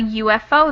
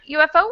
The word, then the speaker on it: UFO: ufo we say a ufo and the reason is because of the way we pronounce that letter u it kind of starts with the y sound not really a vowel sound so it's kind of